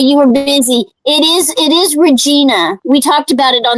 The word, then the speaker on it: Regina: It is Regina.